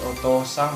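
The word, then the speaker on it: お父さん: Kalau ada, jadi dalam bahasa Jepang itu kalau ada o, u, o dan u atau o dan o, jadi itu bacanya dipanjangkan ya. Jadi oto-san bacanya oto-san.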